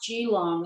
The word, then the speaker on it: Geelong: designed and made for you you moved to gee long is that how you say all right now it's pronounced g long and i would like to just intercert here